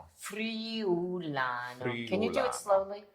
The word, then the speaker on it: Friulano: Okay, first of all, how do you pronounce Friulano. Can you do it slowly? Friulano. So Friulano, like free day.